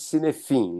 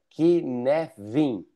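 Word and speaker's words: Cynefin: A pronúncia de de aí tá escrito sinefim, né? Mas é uma é uma palavra galesa, a pronúncia é kevin, então substitui o o f pel um v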